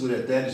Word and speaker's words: ureter: A pronúncia é essa, ó, não tem nenhum acento, mas ó, ureter no singular, ureteres no plural.